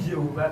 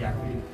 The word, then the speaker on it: Yahvé: Mais là, on dit Jéhovah, tout c'est une mauvaise prononciation de Yahvé.